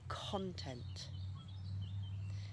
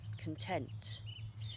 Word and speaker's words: content: content here's an adjective content spelling is exactly the same the meaning is different but the stress is it moves from the first syllable on the noun to the second syllable on the adjective now some people might